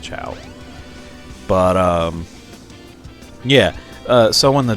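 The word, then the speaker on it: Chao: I hope I'm pronouncing it right. I'm pretty sure it's pronounced Chow.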